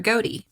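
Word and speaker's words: Gohde: his name was kurt goate his last name is g-o-h-d-e i would 100 percent have pronounced that wrong if i just hadn't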